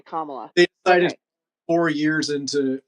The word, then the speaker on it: Kamala: stuff at all or kamla how am I supposed to say it Marty yeah it's it's kamla apparently kamla okay Kamala they decided four years